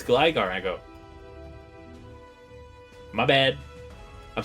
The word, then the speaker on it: Gligar: You say Gleeger? I used to say Gleeger all the time as a kid, and then I saw it was like, no, it's Gligar.